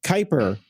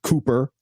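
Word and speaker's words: Kuiper: Yes, it's called Kyper. Scott Galloway, not not Cooper.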